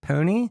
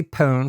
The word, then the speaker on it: pone: By the way, it's probably more correct to pronounce it pony, at least the dictionary says so, but around here we all say pawn, so I'm going with that.